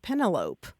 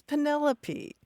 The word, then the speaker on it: Penelope: and I kept talking about this character named Penelope. And only later realized that it was Penelope.